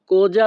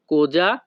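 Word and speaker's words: cosa: আমি এখন কি করব এই বাক্যের ইতালিয়ান ভাষা হবে কোজা ফাসো আদেসো। কোজা ফাসো আদেসো। এখানে সি ও কো এস এ এর উচ্চারণ হবে যা।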